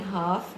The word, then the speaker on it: half: In half, the L is silent.